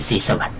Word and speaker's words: ศรีสวัสดิ์: เจ้า ศรีสวัสดิ์ นะ ครับ ที่ เรา อ่าน ว่า โส โส สิวัฒน์ อะไร เ นะ ก็ ก็ ส แล้ว แต่ แต่ ว่า ถ้า ออก เสียง เ่อ ให้ ถูก ต้อง ก็ คือ ศรีสวัสดิ์ นั่น แหละ ก็ คือ อัน